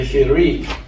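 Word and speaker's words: חיריק: And then we have the hirik, which is sounded as a single dot that we pronounce like the I in pizza.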